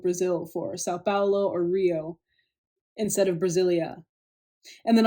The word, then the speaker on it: Rio: de Janeiro that's right it's pronounced Rio get it right we're not in Mexico this is Portuguese not Spanish this was done in